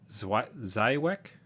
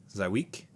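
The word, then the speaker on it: Żywiec: So mine is, I'm gonna blow the, if a gaming dad wants to let me know the actual pronunciation, let me know. But it's Zywiec, Zywiec.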